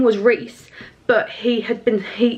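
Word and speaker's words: Rhys: and his name was reys but he had been he his name was spelled like r h y s like Reese so my head whenever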